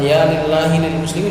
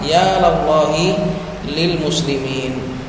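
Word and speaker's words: يا لَلّٰهِ لِلْمُسْلِمِينَ: Jangan kebalik. Jangan ya lillahi lil muslimin. Salah. Ya lallahi lil muslimin.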